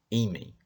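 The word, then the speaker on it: hímen: Ímen. A pronúncia é ímen.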